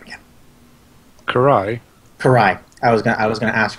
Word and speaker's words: Karai: Karai.